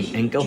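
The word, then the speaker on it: Ginkel: Generous by the standards of the day, the treaty agreed by General de Inkel, and the reason why it's Inkel is you don't pronounce the G in Dutch, and Patrick Sarsfield allowed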